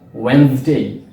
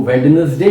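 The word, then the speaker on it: Wednesday: है और वो है वेडनेसडे। ज्यादातर लोग इस वर्ड को डी के साथ प्रोनाउंस करते हैं, यानी कि वो इसको वेडनेसडे कहते हैं, लेकिन इसका सही प्रोनाउंसिएशन वेडनेसडे है।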